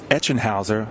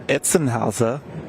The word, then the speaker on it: Etchenhauser: It's Etchenhauser. I gave him Etzenhauser.